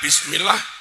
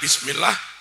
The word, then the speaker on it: bismillah: Imam kadang baca bismillah bismillah bismillah enggak sah. Ba kasrh bi tambahi sin mati bis. Harusnya imam baca bismillah.